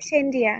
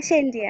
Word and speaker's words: Shane Riya: আপনার নামটার উচ্চারণটা যদি আমাকে একটু বলেন, আপনার নামের উচ্চারণটা কি সেনরিয়া নাকি সেন সেন, ঠিক আছে, সেনরিয়া। আচ্ছা আচ্ছা হ্যাঁ, সেনরিয়া।